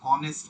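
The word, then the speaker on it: honest: ঠিক আছে, সো বিষয়টা হচ্ছে এরপরে এইচ দেখেন, অনেস্ট ম্যান, এখানে হনেস্ট বলি না আমরা, এই জন্য অনেস্ট অ দিয়ে শুরু, এই যে অনেস্ট ম্যান। তো এখানে এন হচ্ছে অ্যাব্রিভিয়েশনের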